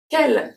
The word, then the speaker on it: quelle: Here we have two silent letters. We have the U. So the U after Q is always silent. And then we have the E at the end.